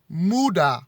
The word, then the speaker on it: Muda: destroyed by two lizard-like creatures called kuduna and muda which is spelled m-u-d-a who frightened by the darkness they